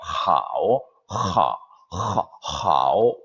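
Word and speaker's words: 好: 그냥 그 입 안에서만 그냥 하오가 아니고 우리 히읗처럼 사실은 목구멍을 울리면서 나오는 하오가 정확한 중국인들의 발음이에요. 하오, 하오 이렇게 하는 것이 중국인 발음에 근접하는 H 발음이에요.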